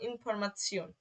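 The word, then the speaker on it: Information: তারপরে শিওন, টে ই ও এন, টে ই ও এন মানে শিওন, এই শিওন মানে টে ই ও এন যখন একসাথে থাকবে এর উচ্চারণ হবে শিওন। যেমন ইনফরমাসিয়ন, ইনফরমাসিয়ন।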